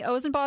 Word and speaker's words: Ozen: first we have Ray ozen who actually told me ozen is pronounced with a long o thank you so much